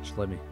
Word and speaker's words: Shloime: We are here with Shloime or Shloima. How do you say your name? Shloime.